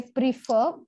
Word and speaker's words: prefer: i o n they rhyme but they are pronounced in a different way right say prefer we say prefer but preferable now there is no logic here